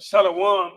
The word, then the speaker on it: shalom: It's not shalom. Correct? Shalom is incorrect. Yeah, shalom and shalom. Yeah, shalom. Shalom. 2 syllables.